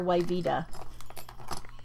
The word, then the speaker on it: Yvette: And her name was spelled like we would call it Yvette. And her family and the way that she pronounced it, they called her Yvita.